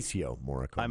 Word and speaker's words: Ennio Morricone: But there's a single track on I don't even remember how to pronounce the composer's name. Ennio Morricone. I think is how you say it. Ennio Morricone. Ennio Morricone.